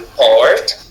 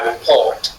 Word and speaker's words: report: Si vous dites report report report rapport report reporté. OK. Donc la différence entre le stress peut signifier changement de signification du mot.